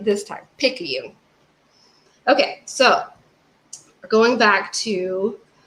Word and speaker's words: Picayune: Picayune.